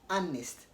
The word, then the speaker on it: honest: same way you don't say honest harness age is silent because the age is unvoiced you want to say honest honest now the silent s when is Air